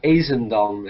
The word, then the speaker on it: Ezendam: is uh astounding uh how do i pronounce your last name people should know uh yeah azendom is how you say it i don't know what's